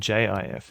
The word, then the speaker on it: GIF: was meant to be a pun on the peanut butter, which is spelled J I F.